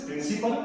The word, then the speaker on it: principle: This is principal and this is also principal। The pronunciation is same. The difference is only in the spelling।